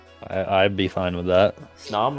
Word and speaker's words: Snom: Snom rhymes with song. Does it? Snom Kind of. and Song. Close enough.